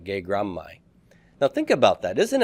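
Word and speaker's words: γέγραμμαι: So it's not going to be gegraphmai, but gegrammai.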